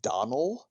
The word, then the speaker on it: Donal: Donal Logue, or you would actually pronounce his name Donald.